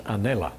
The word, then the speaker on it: anela: a transliteration of english it's anela and that just means angel in a hawaiian pronunciation but they had their